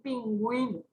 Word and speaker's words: pingüino: Ahora, si usamos con la diéresis, ahí sí va a ser diptongo, ¿sí? Porque ahí se pronuncia justamente esa secuencia de vocal. We, we, por ejemplo, en pingüino, ¿sí?